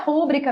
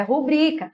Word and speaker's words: rubrica: proparoxítona tem acento mas não é rúbrica meus amores é rubrica Lembrando que a sílaba